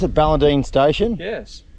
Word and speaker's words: Ballandean: are looking after the CP how do you pronounce it Ballentine station yes how big 12 000.